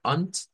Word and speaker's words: und: Ya habíamos visto que esta palabra, unt, La D cambia por la T.